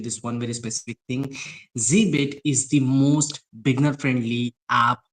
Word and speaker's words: zBit: Some people call it Zed bit. I get it because it's Zed, but it's it's pronounced at Zbit.